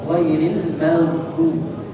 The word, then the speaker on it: غير المغضوب: وأضغط عليها Dan tekan yang kuat ke bagian kiri tersebut. في الجانب الأيسر تحديدا. Bagian kiri lidah secara spesifiknya, في الجانب الأيسر الأعلى yaitu bagian kiri yang atas. غير المغضوب غير المغضوب Ya, ghairil maghdub. فهكذا تنطق صحيحا. Ini cara mengucapkan huruf dhad yang sahih, yang baik.